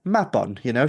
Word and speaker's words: Mabon: And it's like, no, we're just confused why you're pronouncing it the way that you're pronouncing it, when it's Mabon.